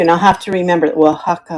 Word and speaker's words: Oaxaca: And I'll have to remember Oaxaca, Oaxaca.